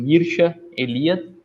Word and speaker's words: Mircea Eliade: Pronuncia-se assim mesmo, Mircea Eliade. Alguns falam ainda Eliade, mas o primeiro nome eu tenho certeza que é Mircea.